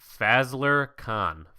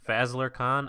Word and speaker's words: Fazlur Khan: It's Fazlur Khan. Fazlur Khan, Fazlur Khan. Yeah, that sounds about right. Khan. Yeah, con.